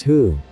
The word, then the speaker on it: hu: associated with the kidneys who pronounced like poo which is associated with